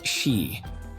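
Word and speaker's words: 四: The number four is pronounced like she meaning death.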